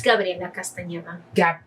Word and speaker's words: Gabriela Castaneda: It's Gabriela Castaneda.